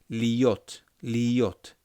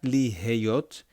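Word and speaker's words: להיות: Liot. Not liheyot, liot. It's almost as if your hey is silent.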